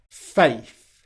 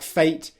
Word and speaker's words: faith: end of words and saying something more like fate instead of faith.